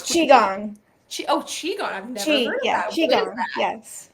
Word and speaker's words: Qigong: Maybe I mispronounced the... It's Qigong.